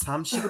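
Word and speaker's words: 삼십: Hansi ঠিক আছে, আপনার সামশিপের উচ্চারণ ঠিক হচ্ছে না। সামশিপের প্রথম উচ্চারণটা হবে কি স।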